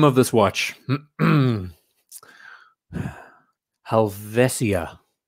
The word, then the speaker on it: Helvetia: So the name of this watch, Helvetia, right? That's how you pronounce it.